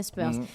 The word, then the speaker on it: Spurs: On prononce bien Spurs.